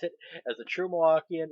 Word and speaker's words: Milwaukee: And yes, that's how you pronounce it. As a true Milwaukeean, it's Milwaukee.